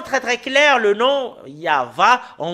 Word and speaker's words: Yahvah: l'an 2000 nous voyons très bien que c'est yava son nom c'est vraiment très très clair le nom yava en l' moins 2000 et j'espère bien que